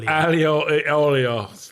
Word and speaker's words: aglio e olio: It's ogle aoi, whatever, however it's pronounced. Aglio e olio.